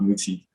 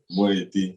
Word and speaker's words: Moeti: Not Muti, Moeti.